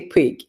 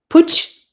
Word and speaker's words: Puig: Puig, a marine scientist, entrepreneur, and the CEO of Oceanogamy.